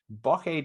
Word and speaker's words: bocce: we also have a bokeh time is it bokeh times how you pronounce it yeah i keep going bucky time honestly you mispronounced it so terribly i was like what